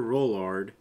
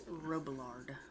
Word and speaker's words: Robillard: It's Robillard. It sounds like you say Rollard the entire time. The name is spelled quite strange and... But they sound like they're saying Rollard all the time.